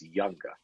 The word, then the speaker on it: Junga: a hold of me my last name is spelled Ju nga and it's pronounced like the J is of why it's younger so younger that